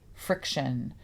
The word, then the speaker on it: Friktion: phone, she makes dates using this app called Friction. Friction with K. That's Yes. F R I K. Friction.